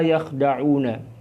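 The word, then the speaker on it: يخدعون: Jadi cara membacanya adalah wa ma yakhda'una.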